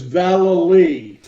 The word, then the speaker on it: Vallely: It's Vallely.